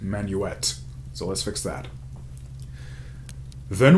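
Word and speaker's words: Manuxet: i mispronounced next time it's actually pronounced manuet so let's fix that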